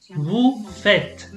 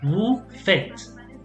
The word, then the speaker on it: vous faites: Vous faites. You pronounce the T, but you don't pronounce the ES. So, vous faites.